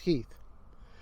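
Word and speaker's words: Heth: of confederate general henry heath it looks like heath but is pronounced heath he uh is best remembered for basically starting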